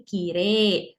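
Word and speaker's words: きれい: Maka dari itu mengucapkannya menjadi Kire dan Yume.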